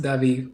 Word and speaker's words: Davi: I had a feeling it was Davi. It just depended on the the root language. Um yeah, I'm Brazilian so Okay. It's pronounced Di here. Davi. Is that Am I saying it right?